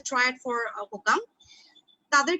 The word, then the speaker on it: HOCM: তারপর ধরো আমি হোকাম, যেটা ওরা উচ্চারণ করে HOCM, আসলে উচ্চারণটা হচ্ছে হোকাম, হাইপারট্রফি অবস্ট্রাকটিভ কার্ডিওমায়োপ্যাথি, ঠিক আছে।